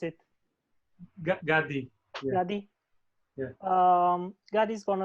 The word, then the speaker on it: Gadi: Gadi, sorry for, how do you pronounce it? Gadi.